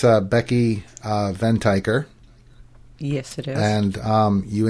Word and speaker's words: Venteicher: with we were we were debating about the pronunciation of her last name but where it's a Becky ven tiger yes it is and you interviewed her just